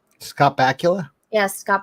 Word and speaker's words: Bakula: the hell do you say his name scott bakula yes scott bakula i always pronounce it wrong scarbacula's autograph for me because